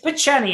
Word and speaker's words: Picheny: showed us today, you can check out Picheny. How do you pronounce it? Picheny? It's Picheny, actually, yeah.